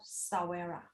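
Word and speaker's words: sahwira: language from zimbabwe and this is called salvera you can see from the screen it's called sawera the correct pronunciation it is means that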